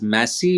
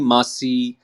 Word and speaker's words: Massey: Massey is pronounced as Massey, but there are so many people who call me Masi. They call me Masi.